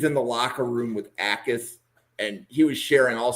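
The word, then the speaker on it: Jacas: And the J is silent. So it's Gabe Ais. It's a It's not It's not Yakis.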